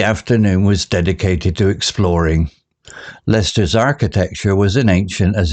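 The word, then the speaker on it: Leicester: with a map marked with peculiar names like Lester pronounced Lester and gluster pronounced gluster they planned their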